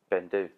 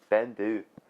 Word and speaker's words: Beinn Dubh: The thing is, those people are actually closest because the B isn't actually pronounced. So that may be the spelling, but the pronunciation is just Beinn Dubh. Beinn Dubh.